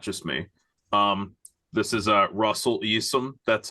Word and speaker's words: Eassom: This is Russell Eassom.